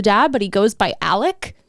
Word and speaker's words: Alex: is Alex the dad but he goes by Alec like it's it's spelled Alex but you pronounce it like elk